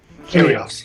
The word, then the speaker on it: Kyrgios: According to Nick Kyrgios, how do you pronounce his name? Curious. Kyrgios. It's because the G's there, I just want to say it.